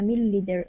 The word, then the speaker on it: milliliter: The only E sound is at the very end.